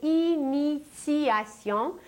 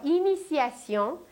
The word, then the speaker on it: initiation: Et nous aujourd'hui nous ne parlons pas de méditation mais nous parlons de initiation où un t se prononce comme un c mais en réalité il s'agit d'un t et la racine du